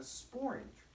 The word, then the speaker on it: sporange: It forms loads of spores being made in a sporange, which rhymes with orange.